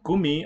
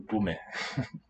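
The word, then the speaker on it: Gummi: Now, gumi, I would just want to have some kind of diacritic or some special spelling for that E to show, even though it's a weak syllable, don't lower it. Not gume.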